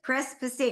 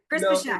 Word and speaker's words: Pesek: Pesek. I always say it wrong. Yeah, Pesek. I always say Pesek. He doesn't even tell me I'm saying it wrong. Pesek. Pesek.